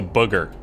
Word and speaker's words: booger: I pronounce the ooh in booger the same way I pronounce it in book. So booger.